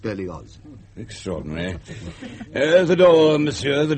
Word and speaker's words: Berlioz: I'm sorry, but the name is Berlioz. German in origin. The family has lived in Savoy for generations, of course, but it is pronounced Berlioz.